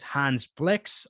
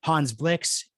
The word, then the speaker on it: Hans Blix: a nuclear program and actually the weapons inspectors hans flicks oops i almost used the team america world police pronunciation most people in my age court will